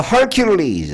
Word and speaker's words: Hercules: 더 hercules. Hercules 발음할 때 her큐리es. 너네클레스 알지? 우리 식으로 읽으면 헤라클래스고 영어 영어하는 사람들이 읽으면 리즈 그 우리는 컬리즈라고 알고 있는게 좋겠죠.